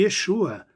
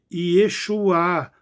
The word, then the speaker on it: Yeshua: sotaque diferenciado, mas é Yeshua, do mesmo modo que outros leitores, que sempre devem ter lido com tônica da letra vogal E, ou primeira sílaba, e não da letra U, como alguns erroneamente pronunciam.